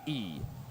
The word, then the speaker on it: E: My the way you say my last name is the way you pronounce the letter E. So, E.